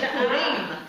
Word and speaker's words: Purim: It's Purim. Oh, is it? Purim.